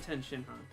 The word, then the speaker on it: Tenshinhan: in Tien isn't his name at all. It's Ten. No, it's Tenshinhan, like all one Yeah.